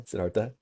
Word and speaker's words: Siddhartha: Sidarta close. Yeah you got it. You got it. as we look at the story of Sedartha.